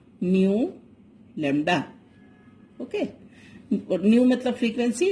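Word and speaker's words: ν: कुछ दिख रहा है, इसको बहुत सारे बच्चे वी पढ़ते हैं, बट इट इज नॉट वी, इट is pronounced as न्यू.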